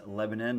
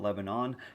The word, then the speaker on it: Lebanon: Oh, and fun fact, Lebanon is actually pronounced Lebanon, not Lebanon.